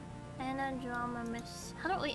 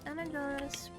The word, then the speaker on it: anadromous: What other species of fish are anadromous? How do I actually say it? Fish migration. Anadromous pronunciation.